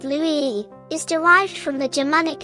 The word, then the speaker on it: Louis: The French name Louis, pronounced Louis, is derived from the Germanic name Ludwig, meaning famous in war.